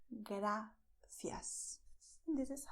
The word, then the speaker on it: gracias: In Spanish, you have gracias. The movement of your tongue is this. Gracias. Just like this, okay? So your tongue, this movement, it goes to the back, to the front teeth and then back without rolling backwards, okay?